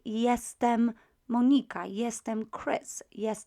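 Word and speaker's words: jestem: i am in polish is this word here yes them yes them and you can see straight away that the first letter j is pronounced as a together ah yeah yeah that's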